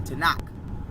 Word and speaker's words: Tanakh: of the the Torah, which is also in Hebrew pronounced the Tanakh. So when we're dealing with the Tanakh, it's spelled Tanakh.